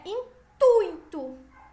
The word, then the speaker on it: intuito: né da língua portuguesa a pronúncia de intuito é intuito com a tônica no um do ditongo ui certo o mesmo vale